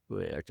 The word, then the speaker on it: Uriarte: Uriarte. I know I butchered your name the first time. Uriarte.